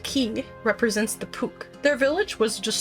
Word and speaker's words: Q: The Q tribe, pronounced Key, represents the Puk.